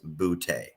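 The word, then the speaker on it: Boutte: is actually his name his last name is pronounced bootay hang on one second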